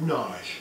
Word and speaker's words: Nagy: by the name of Nagy. Now, it looks like it's pronounced Nagy, but I had a Hungarian woman recently tell me that no, it's pronounced Nagy.